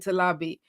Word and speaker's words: Talabi: recording it on there so it's like to lobby so you hear it you know exactly how to pronounce my name so if we're doing a